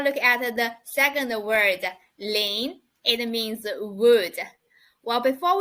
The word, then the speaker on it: 林: We put 2 mu together, but the pronunciation is Ling. Ling, it means wood.